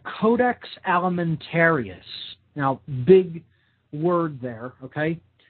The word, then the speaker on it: codex alimentarius: should definitely look into and research it's called codex alimentarius now big word there okay this is spelled c-o-d-e-x codex okay that means code in